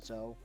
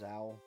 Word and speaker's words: Zhou: But I guess it's so you couldn't play your minx searcher and then just grab Zhou. Oh, which is how you pronounce that. I thought it was Zhao.